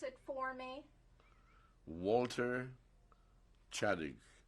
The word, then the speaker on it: Ciodyk: mister could you spell your current name and pronounce it for me walter chadwick c i o d y k and what